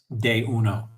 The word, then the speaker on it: D1: exclusively in are tias de uno. What does the d stand for in day uno? I say de day. Uh that's how in Spanish you pronounce the letter d day.